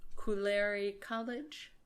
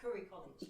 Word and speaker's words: Curry College: kind of like um koler college is that do I say it right like oh Curry College Curry College you know